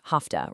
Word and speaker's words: hafta: We've got hafta, pronounced hafta, representing a 7-day week.